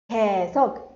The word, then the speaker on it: 계속: So how do we pronounce this? 개. So Y sound would be omitted. 계속, 계속, continuous.